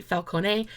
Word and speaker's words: Falcone: Ben Falcone, some people say Falcone, some people say Falcone. I'm pronouncing it the Italian way.